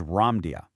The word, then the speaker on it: Ramdia: spiritual messages state that its true esoteric name, and actually the most accurate pronunciation, is Ramdia.